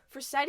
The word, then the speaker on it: Forcetti: definition of for setting yeah like y is for seti for seti all right so i got you